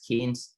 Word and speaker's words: Cannes: which was part of Cannes. People call it CANNES, Cannes. I was told that it is supposed to be pronounced as Cannes Film Festival.